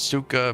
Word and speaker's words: Saika: Saika pronounces as Suka, means meh.